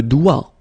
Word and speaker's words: doigt: Le doigt, okay, so don't be frightened by this G because basically you don't pronounce it and then the final T you don't pronounce it.